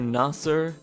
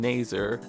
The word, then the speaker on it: Nasser: and their AI-voiced brother Nasser— I will give the game thanks, by the way, for telling me how to actually pronounce his name, because all this time I've been saying Naser.